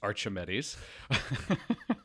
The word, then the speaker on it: Archimedes: So this was a cat by the name of Archimedes, or as I like to say, Archimedes. That's the proper way to pronounce it? Fairly certain it's Archimedes.